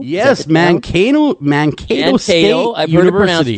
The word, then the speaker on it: Mankato: His name is Dennis Waskul, and he is a professor of sociology at, is it pronounced Mankato? Yes, Mankato State I've heard it University.